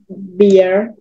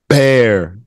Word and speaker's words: bear: have you seen is beer beer beer beer beer bear bear it sounds like b-a-r-e but it's pronounced I mean it's spelled b-e-a-r teddy bear and bear